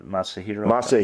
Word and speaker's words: Masahiro: tanaka's first name doctor tanaka yeah no the masahiro hero tanaka right that time you're you're starting